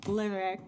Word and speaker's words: Levesque: Again, it's pronounced Levesque. It's a French name.